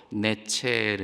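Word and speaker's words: נצר: 뿌리에서 한 가지 히브리어로 내 체르 인데요 가지가 나서 결실할 것이요 한 가지가 나서 히브리어로 가지가 이제 내체라고 발음이 되는데 이것도 충분히 타당해 보입니다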